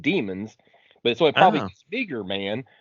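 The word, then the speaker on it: daemons: are referred to as I call them Damons d a e right but the pronounced demons but so probably bager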